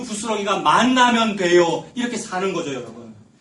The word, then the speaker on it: 만나: 이거 만나, 그 히브리어 발음 만나, 니은의 난데 이제 시옷 만나로 쓰시는 분이 있어요. 그거 다시다, 만나는 다시다잖아요. 히브리어 만나, 니은 받침의 만나, 히브리어입니다. 그게 이제 예수님 의미하는 거지 않습니까?